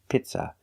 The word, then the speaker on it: pizza: The first vowel is a long e like green beans. P. Pizza. We don't use the short sound I like milk. It's not pizza. It's P. Pizza. The second syllable is not stressed. It's pronounced with a relaxed uh pizza. Pizza. Use a relaxed uh like cup and up.